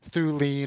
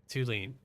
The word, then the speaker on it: Tulane: I think everyone calls him Thulane or Thuline, and then it's like Tulane. So now you can get it right when you interview him. Tulane.